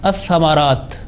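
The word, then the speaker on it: الثمرات: And again the word as-thamarat. As-thamarat, Ra has a vertical Fatha on that one. So it should be pronounced with 2 seconds duration.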